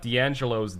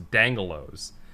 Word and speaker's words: D'Angelo's: Yeah, you're supposed to say D'Angelo's because it's got an accent mark between the D and the A.